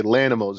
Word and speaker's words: Lanimals: understand how to say Lannimals. It's just animals with a L, little pronunciation in the beginning.